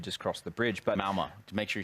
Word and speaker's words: Malmö: But Malmö, to make sure you say it right.